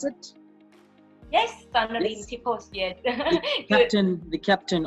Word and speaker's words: Sornnarin Tippoch: So I'm here joined by Sornnarin Tippoch. Is that how I pronounce it? Yes, Sornnarin Yes.